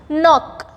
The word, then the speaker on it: knock: Knock. Okay. N-O-K-N-O-C-K is knock. K is silent here.